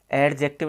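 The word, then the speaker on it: adjunct: जाता है, और EDG में भी क्या डी साइलेंट हो जाता है। देखिए यहाँ पे इसको अपन एडजेक्टिव नहीं बोलते हैं, एडजेक्टिव बोलते हैं।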